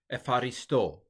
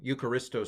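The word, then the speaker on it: εὐχαριστῶ: Now this one, modern Greeks, of course, tend to pronounce this as almost F. Epharisto instead of Eucharisto. Eucharisto sounds so boring, doesn't it?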